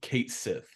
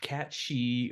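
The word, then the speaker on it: Cait Sith: Oh, we we bring it up because they've officially announced that Kate Sith that he is his name he's and his name is pronounced Kate Sith, not Cat Shei or any of that stuff.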